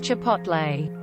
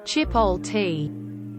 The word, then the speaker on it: chipotle: child and it's well frustrating my mum cannot pronounce Chipotle she says Chipotle tea I work in a hotel the number of